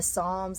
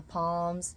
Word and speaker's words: Psalms: The Psalms I called the Palms.